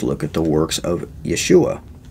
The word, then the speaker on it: Yeshua: at the works of yeshua or yahshua as it's sometimes pronounced just talk about how